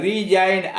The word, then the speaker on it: resign: उसके बाद है रिजाइन RESIGN रिजाइन त्यागना, रिजाइन त्यागना।